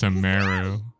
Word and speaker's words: Sumeru: It's Sumeru. I don't like how she pronounces it at all.